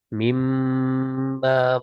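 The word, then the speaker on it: مِمَّا: ya min min dan Ma itu penulisannya di dipisah ya contoh surah arrum di ayat ayat 20 28 ya dan Min dan Ma tapi kalau kita membacanya mimma malakat aimanukum mimma malakat aimanukum penulisan dipisah cuman kalau membaca ya dia diidghamkan kan nun sukun ketemu mim menjadi idgham bunah ini contoh di surat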